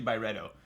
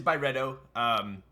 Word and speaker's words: Byredo: How do you say it? Byredo. Byredo. Thank you. Could have said that in the first word of the freaking video. Byredo. Okay, it's officially Byredo. So it is Byredo.